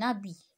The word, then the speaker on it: habit: Un habit, un habit. Un cahier. Le théâtre, le thé. Je répète, un homme. Regardez, c'est la même chose. Toujours, je prononce pas la lettre H, d'accord?